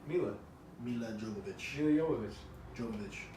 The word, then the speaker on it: Jovovich: Mila Jovovich. Mila Jovovich. Jovovich. I know it's with a J, but they only pronounce it with a Y.